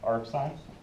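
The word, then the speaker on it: arcsin: been saying it or you can say yeah AR sign oh right so that's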